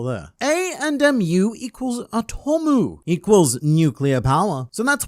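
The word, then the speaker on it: アトム: read in English, and if it were to be read in Japanese, then it would read Atomu, which is also how they would say the word atom.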